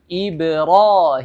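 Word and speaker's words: إبراهيم: harakat Ya misalnya seperti Kebanyakan orang misalnya bacanya ibruim itu salah Jadi jangan sepanjang itu tidak sepanjang itu atau contonya lagi bismill itu salah itu terlalu panjang jadi cara membaca yang benar adalah Bismillahirahmanirahim atau ibrimu jadi lebih dikurangi panjangnya sampai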